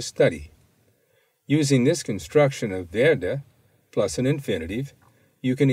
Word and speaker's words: werde: Notice that the W has the sound of V.